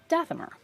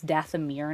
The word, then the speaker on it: Dathomir: going to name them dathamer and i'm using the old pronunciation i know it's dathomir now oh it happens die